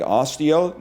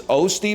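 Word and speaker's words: Osty: It's Osti, like Osteo? No, it's Osti because if this is the north, he's on the east of us.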